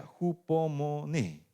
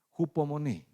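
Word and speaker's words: ὑπομονή: Y esta palabra en griego significa jupomoné. Jupomoné. Así se se pronuncia.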